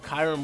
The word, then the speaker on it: Kyurem: got the show off kyron white or kiram however you guys want to pronounce it in ranked battles he